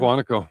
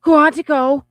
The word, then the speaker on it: Quantico: Quantico. Quantico. I love that word. Quantico. Quantico. Quantico. Sorry. No, you're you're tired and you're having a moment. I'm just letting you do it. Quantico.